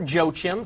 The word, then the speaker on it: Yoakam: winner is tanya yoakam or joe chim depending on how you pronounce it i knew a guy who actually pronounced it yokim so we're going to go with that tanya gets a prize